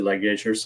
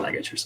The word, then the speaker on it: ligatures: mono um with the ligatures or you know how do you say light gauges ligature ligatures okay i said like edgers but anyways like these